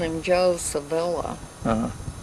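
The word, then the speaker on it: Civello: And I always called him Joe Savella. Uh-huh. How do you pronounce it? That's Joe Savello is the way I'd pronounce it.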